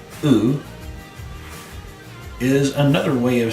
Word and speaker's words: u: Remember to say the u and not you.